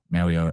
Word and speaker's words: Mauigoa: I don't think it's Goa. It's Owa, Mauigoa. Either way.